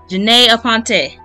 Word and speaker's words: Janey Aponte: Janey Aponte. Hey. Yeah, because I butchered it.